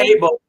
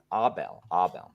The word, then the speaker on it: Abel: Put the A is stronger than the rest of the word.